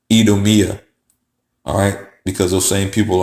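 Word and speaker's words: Idumea: and s okay but the I in Latin just like if you see in Spanish has an e sound e so they were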